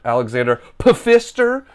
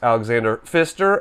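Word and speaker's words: Alexander Pfister: it's from the famous designer Alexander F Fister Alexander pister but pronounced Alexander Fister um Alexander Fister designed games like marra Kaio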